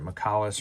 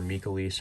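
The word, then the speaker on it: Mikailis: like so we're playing three exorcistor McAuliffe or mikalis however you want to pronounce it essentially uh the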